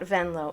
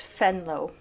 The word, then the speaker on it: Venlo: well by the way it's not venlo it's fenlow yeah this is Dutch which capitulated on September